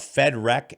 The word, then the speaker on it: Fed Wreck: this whole idea of fed rec and i sub and i do spell it f-e-d-w-r-e-c-k and i actually you know you know it's always been referred to loosely as federec as in with rec but understanding the